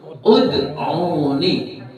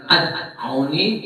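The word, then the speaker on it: ادعوني: rabbukum kalau disambung rbukumudun tapi kalau dipisah maka rbukum terus uduni bukan aduni bukan iduni karena huruf yang ketiganya yaitu ain itu berupa berupa dommah.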